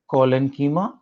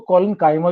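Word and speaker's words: collenchyma: Okay, simple के अंदर 3 है, ये सिंगल टाइप के, पैरेन्कीमा, कोलेनकीमा, कुछ टीचर इसको कॉलन काइमा भी प्रोनाउंस करते हैं, तो टेंशन मत लेना, कीमा और काइमा दोनों।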